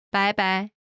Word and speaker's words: 拜拜: 拜拜， This expression comes from the English bye bye.